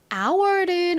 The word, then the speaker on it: hour: 잘 봐 주셔야 됩니다 h 들어가지만 소리가 나지 않는다라는 점 자 그리고 our 소리